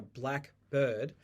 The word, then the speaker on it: blackbird: back to a schwa sometimes we use this stress to tell the difference between a black bird and then the specific species blackbird did you hear the difference black bird and Blackbird another example I teach